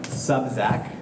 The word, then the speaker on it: Sobczak: Charlie Sobczak is how I learned how to pronounce his name, and he is going to be presenting to you today.